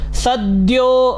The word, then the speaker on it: सद्यो: त्र्यक्षश्चतुर्वक्त्र उरुप्रभावः त्र्यक्षश्चतुर्वक्त्र उरुप्रभावः सद्योधिजातो सद्यो द और य मिलके द्य विद्यालय वाला द्य बनता है, ठीक है।